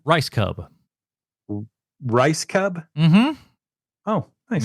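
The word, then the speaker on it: Rajskub: How do you pronounce the last name? Rice Cub.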